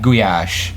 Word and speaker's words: gulyás: But if you want to say it in Hungarian, it's written like gulyás, and then ly is one letter.